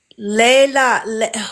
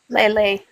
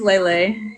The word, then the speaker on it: Lele: Layla. Oh, am I saying her name wrong? Layla? Lele. Lele. Thank you. Yes, it's Lele.